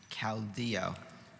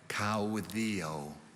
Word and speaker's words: caudillo: in 19th century mexico can you say both pronunciations again caldea cow theo c a u t h e o caldeo gaudio is c a u d i l